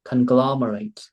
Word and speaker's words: conglomerate: Conglomerate. Một lần nữa là conglomerate. Em bị nhầm giữa âm L và âm R á.